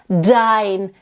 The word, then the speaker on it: dein: And also when you have like a D in the beginning, dein, dein, you want to really make sure you bring it out. Don't make it soft. Make it really like have a little smack.